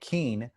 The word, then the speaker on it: Kean: nukes by robert hastings leslie kane and it's spelt k-e-a-n like keane she was one of